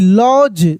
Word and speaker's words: lodge: LODGE लॉज, सभी मिलेगा आगे स्टोरी में।